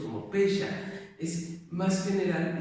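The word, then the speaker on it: פשע: Recordemos que el pecado en hebreo, que significa o que se pronuncia como pesha, es más general y significa errar al blanco.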